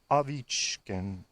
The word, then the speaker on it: Ovechkin: periods because my man Ovechkin, for those of you not in the know, the Russian pronunciation is Alexander Ovechkin.